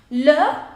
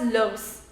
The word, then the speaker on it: leur: Attention, do not pronounce it as leurs.